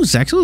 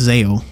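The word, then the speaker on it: ZEXAL: Oh, Chad, did you know Zexel is pronounced differently in English and Japanese? In Japanese, the X is silent, but in English, the X is spoken. It's not Zexel, it's Zeo. Which is interesting, because usually it'd just be a mispronunciation, but like, its official English name pronounces the X. That's what they say in the show.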